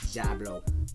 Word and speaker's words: Djablo: pronounced and that's how I know how to pronounce it it says jablo jablo sauce is The First Filipino hot sauce